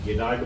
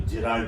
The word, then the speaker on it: Gerald: ये प्रोनाउंसिएशन होता है, कोई गेराल्ड बोल देता है, कोई जेराल्ड बोल देता है, इससे मत घबराइए।